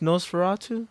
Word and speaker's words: Nosferatu: Because like Nosferatu's coming out, and that's gonna be its whole new thing. Is it pronounced Nosferatu?